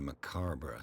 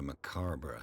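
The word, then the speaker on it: macabre: What a macabra souvenir. You didn't pronounce that correctly. What a macar souvenir.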